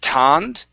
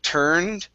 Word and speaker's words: turned: okay so first up instead of tanned okay with an ah it's er turned okay and then yeah